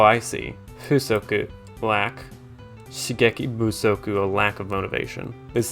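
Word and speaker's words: 不足: it's a compound word the first syllable became or it took on voicing because it's a compound word rather last word in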